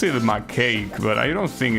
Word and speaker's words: macaque: It's pronounced macaque. Okay. I'm not gonna remember that, but thanks for letting me know. So it's not cake, it's cack. Macaque.